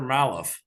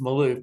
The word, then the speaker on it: Malouf: says are you she said maloff Miss because she didn't how pronounce my name I said yeah it's Maloof but yes ma'am I